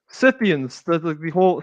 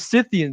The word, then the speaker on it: Scythian: I pronounce it Scythian because they're named after literally Scythe.